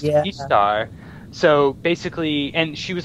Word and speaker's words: Ishtar: heard was that there's a Syrian goddess named Ishtar and it's pronounced ishar so basically and she